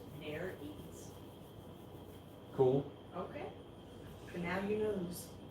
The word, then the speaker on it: nares: John says fish nose holes are called nares, pronounced nares.